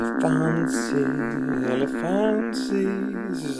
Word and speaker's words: Elefancy: Elefancy, if you want to, that's the correct pronunciation, Elefancy, and this is just a print looking thing,